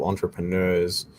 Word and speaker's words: entrepreneur: This one is called Trello, and I found a lot of entrepreneurs. I always struggle to say that word. Apparently, the second R is silent.